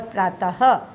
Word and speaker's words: प्रातः: वो सुबह और प्रातः, ये जो दो डॉट्स आपको दिखाई दे रहे हैं पीछे, ये जो है ह का हमें उच्चारण करना है उसके लिए, और जो प के नीचे लाइन है वो रा है। प र त अ त ह, प्रातः।